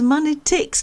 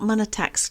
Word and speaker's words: Monetics: That was Monetics, not Monetax.